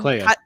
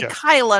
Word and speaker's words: Clea: Clea. Was it? Clea. Clea. I kept wanting to say Kyla, and I'm like, no, I know that's wrong.